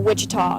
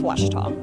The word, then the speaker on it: Ouachita: Back in Texas, everybody pronounces it Wichita, but really, it's Washita.